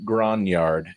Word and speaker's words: grognard: This is an excellent addition to any collection, whether you're a brand new player or an old grognard. Yes, that is how it's pronounced because it's French or something.